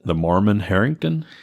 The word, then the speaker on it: Marmon-Herrington: name typical charlie how do you say it the Mormon Harrington thank you combat tank light it tank and